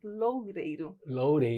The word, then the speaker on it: Loureiro: é idealizador, fundador do Cola na Videira, Bruno Loureiro. Loureiro. Pronunciei certo?